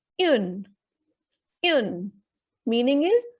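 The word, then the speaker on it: une: For example, first word is U-N-E. It will be pronounced as yun.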